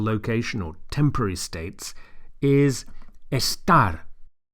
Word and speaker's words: estar: or temporary states, is estar. Make sure you emphasize the second syllable, the last syllable. Estar.